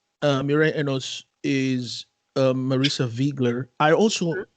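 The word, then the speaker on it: Wiegler: the fact that they they maintain the proper pronunciation of you know viggler i loved it but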